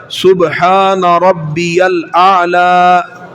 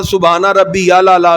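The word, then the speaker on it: سبحان ربي الأعلى: سمع اللہ لمن حمدہ ربنا لک الحمد اللہ اکبر سبحان ربی الاعلی. اس کو بعد سبحانہ ربی یا لالا، سبحانہ ربی یا لالا، یہ یا لالا کچھ نہیں ہوتا، اس کو ٹھیک کیا جائے سبحان ربی الاعلی.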